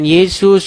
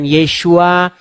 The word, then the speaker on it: Yesus: Mau dia diucapkan Yesus, mau dia diucapkan Yeshua, itu tidak jadi masalah. Yang penting, orang diselamatkan itu bukan karena ngucap-ngucap, bukan karena cuap-cuap.